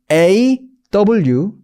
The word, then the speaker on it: law: 자, 이거의 발음은 이래요. law. 약간 오라고, 그러니까 우리나라 말로 받아 적으라면 오라고 로라고 적어도 될 것 같고 약간 러라고 적어도 될 것 같긴 한데 그 느낌이에요.